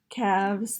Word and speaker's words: calves: It's not say calves, calves. The L's not really there.